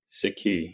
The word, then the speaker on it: Sikhi: believe in the book correct me if I pronounce this wrong uh it's c key or sikki sikki yeah yeah yeah I appreciate that yeah so